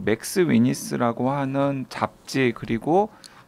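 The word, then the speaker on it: McSweeney's: 지금 저는 모르는 잡지고 그런데 보니까 영어 스펠이 맥도날드 할 때 맥에다가 스위니라고 하는 이 패밀리 네임 붙어 있어요. 맥 스위니스입니다. 두 분 다 지금 맥스 위니스라고 자꾸 발음하셔가지고 정정하겠습니다.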